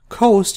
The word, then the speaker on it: coast: I want you to pay attention to the pronunciation of this word its Coast this is cost these two can be confusing to many this is cost and this is Coast different words different pronunciations different meanings okay now what is the